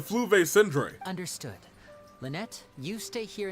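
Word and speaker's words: Fleuve Cendre: also know that the FL Sandra is dangerous territory lots of hostile groups lurking around if you're serious about going there please be careful no no Jimma it's pronounced the flu V syndr understood Lynette you stay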